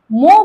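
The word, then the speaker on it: mho: अब इसको आपको कौन-कौन सी फॉर्म मिल सकती है? क्या ओम इनवर्स नहीं आया? तो इसको देखो दूसरा नाम क्या है इसका? इसका दूसरा नाम है मो एम एच ओ मो और क्या इसको बोलते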